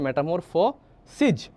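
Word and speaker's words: metamorphoses: same শুধুমাত্র পার্থক্য হলো এটার মধ্যে যে জিনিসটা এখানে তোমার আছে এসইএস তাইলে এ উচ্চারণ হবে সিজ আর এটার উচ্চারণ আছে এস আইএস মানে এস আইএস সিস তাহলে দুইটা বই আছে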